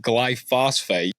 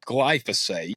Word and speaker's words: glyphosate: Round Up um yeah most people commonly mispronounce it call it glyphosphate and it is not it's glyphosate I'm like if you're